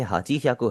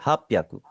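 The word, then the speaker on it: はっぴゃく: उसके आगे 50 गोजू उसके आगे फाइव गोियाकू गोजू गो 555 88 को क्या बोलेंगे इसे आपने हाची याकू हरगिज़ नहीं बोलना आप इसे क्या बोलेंगे हप याकू हप याकू हाची ज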